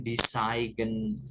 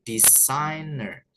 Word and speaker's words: designer: enggak usah dibaca ya Bukan desiger gitu Bukan Ya tapi designer jadi anggap aja g-nya tuh enggak ada di situ gitu ya kalau ada